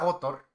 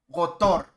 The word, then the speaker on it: Gotor: personas que les digo que me llamo Gotor, dicen, ah, Gotor. No, Gotor no, Gotor. Sí, la batónica en Tor, no lleva tilde porque es una palabra llana que no acaba en tal.